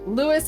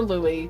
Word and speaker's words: Louis: Um, Troy says, "From my experience, the two pronunciations for for Louis seems to depend on the person how the person wants it said." Yes. Lewis or Louie, depending on who it is exactly.